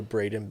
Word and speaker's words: Braiden: social media yeah so you can go to Braden it's spelled b-r-a-i-d-e-n and then b-e-l-n-a-p you can